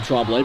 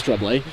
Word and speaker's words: Tremblay: I'm going to be tempted to say his name, Tremblay, but it is Tremblay.